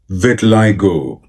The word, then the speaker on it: vitiligo: इस वर्ड की सही प्रोनाउंसिएशन है vitiligo, vitiligo, vitiligo, vit I go, vit I go, vit I go, vitiligo, vitiligo, vitiligo.